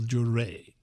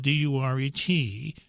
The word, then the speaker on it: Duret: One of the most likable, I think, is Lieutenant Colonel Duret. Now, his name is spelled D-U-R-E-T, but he prefers the French pronunciation of his name.